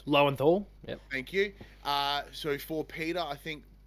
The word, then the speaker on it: Lowenthal: I think the performance driven by Yuri, whose last name I can never pronounce. Lowenthal.